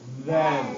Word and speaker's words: then: letter difference the e what does this say then then yeah so that one you do use the vibrating noise then you wouldn't say